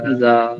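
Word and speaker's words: ذال: ফোঁটা বা নুক্তা থাকবে তাকে বলবো আমরা জাল জাল জাল জিহবা ঠিক যেমন আমরা সা এর উচ্চারণটা করেছি দুই দাঁতের মাঝখান থেকে সা বলেছি ঠিক সেখান থেকেই জাল উচ্চারণ হবে জাল দুই দাঁতের মাঝখান থেকে জিহবা সামনে বের হয়ে আসবে পাতলা করে জাল জাল জাল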